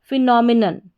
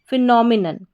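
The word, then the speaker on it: phenomenon: none तो यहां पर याद रखें जो पीएच है इसका उच्चारण फ होता है तो क्या बन गई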